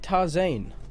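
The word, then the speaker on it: Tarzán: huh turns out that tarzan is pronounced completely different in spanish and is more like toss Ain since they clearly weren't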